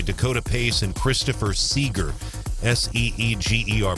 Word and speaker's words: Seeger: Seeger, pronounced Seeger.